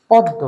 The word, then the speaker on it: পদ্ম: দ আরেকটা হলো ম এখন উচ্চারণের সময় অনেক এলাকায় এটাকে বলা হয় পদ্ম বা আমরা এটাকে উচ্চারণ করি পদ্ম তার মানে একটি দ একটি ম ছিল আমরা এটাকে দুটোই দ বানিয়ে দিলাম তাহলে ঘটনাটা কি ঘটলো